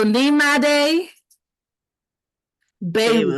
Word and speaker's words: Nyemade Biowu: it up on a number of occasions so n m day B yes yep you did it please introduce yourself hi everybody my name as she mentioned is or if you're online I'm that African Butterfly